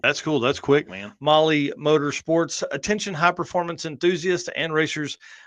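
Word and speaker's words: Mahle: And uh for everybody listening to this, Molly is spelled M Ah L E. Molly M O L L Y Motorsports is a completely different thing.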